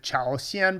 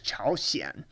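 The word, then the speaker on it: 朝鲜: you see north korea you might be inclined to want to call it chaosian but it's chaoshien but when it means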